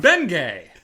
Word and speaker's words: Bengay: have been yay no don't pronounce the G Shan bengay bengay it's like it's like